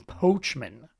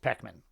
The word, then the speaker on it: Poechman: screen, I guess, it might look like Ben Poechman, but it's pronounced Poechman.